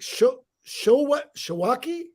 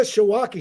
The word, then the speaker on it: Świątek: Okay, now I've got congratulations to Inga, and it's pronounced I think Shawaki. Inga Shawaki.